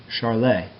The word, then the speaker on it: Charles: law now charles law is actually a french chemist so it's pronounced charlay but for simplicity we'll call it charles and his law relates